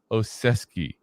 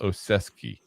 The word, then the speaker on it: Olszewski: teamer his name is literally gunar so gunar oesi and I'll tell you this if you look at the last name you will never think it's pronounced oesi but it's that's to pronounced I watched highlight